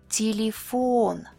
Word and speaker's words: телефон: Unstressed Е and Я sound like E, like in the word seek, E. In any unstressed syllable, but not at the end of the word. Телефон, телефон, театр, театр, ветеран,